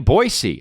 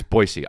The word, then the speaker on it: Boise: I'm gonna be in Boise and that's how you say it and whoever told me that was Aaron Paul Aaron Paul told me he's from there it's Boise so he would know he came to my